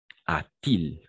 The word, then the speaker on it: a-t-il: ajouter le thé et on va prononcer le thé de la même façon a-t-il ok a-t-il pourquoi il